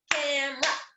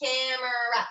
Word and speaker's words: camera: how to say it if you guys did it real slow it would be camera it would have three syllables but camera it's actually two you ready go ahead